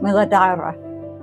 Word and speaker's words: Muladhara: Today we're beginning our reparenting journey through the chakras, and we'll start at the very foundation, the root chakra, pronounced Muladhara, meaning root support.